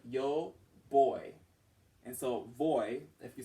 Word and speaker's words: voy: that are being presented when you have a v in Spanish you pronounce that like a b and so it's like yo boy and so voy if you said your